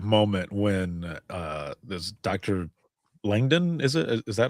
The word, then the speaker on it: Langdon: Langden is it is that how you pronounce his last name? Something like that. Langdon.